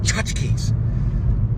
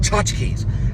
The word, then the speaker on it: Tchotchkes: Tchotchkes. You got it has to come out in a breath. Like, you have to say it like Tchotchkes. It's very difficult to say Tchotchkes. But if you go Tchotchkes, then you can get it down.